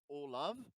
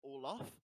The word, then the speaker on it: Olav: I'm sure the guy's name was like Olav, but somebody pronounced it Olaf.